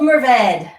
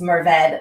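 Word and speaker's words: Mourvèdre: high plains merved um also often called mervedra especially at william chris vineyards but it is a french word so there's definitely a spectrum of how to say it um depending on how french you want to get with it um or how texan you want to get with it but i go with merved so i'm doing something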